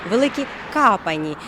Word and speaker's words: Великі Копані: Ми вирушаємо у село Великі Копані але місцеві жителі називають його трішки інакше великі капані і взагалі усі слова з літерою о вони звикли вимовляти як А помідори малаци халаци Чому